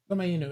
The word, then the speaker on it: Komainu: Is it Kumeno or Kumano? Yeah, I know how it's spelled. Lion dog. I don't. Komainu.